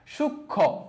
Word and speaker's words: সূক্ষ্ম: সূক্ষ্ম, দেখো এখানে কিন্তু মফলার উচ্চারণ হয় না, কে হয়েছে সূক্ষ্ম, এই যে ক আর খ হয়ে গেছে, কারণ খ এর মতো উচ্চারণ হয়েছে।